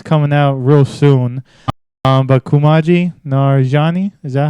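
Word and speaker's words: Kumail Nanjiani: But Kumaji Nanjiani, is that how you say his name? It is Kumaji Nanjiani.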